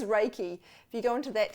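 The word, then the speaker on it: Reiki: I always wrong raiki people call it raiky and sometimes I find myself saying that too as if I'm just trying to to help them feel less embarrassed about saying it wrong but it is raiki if you go into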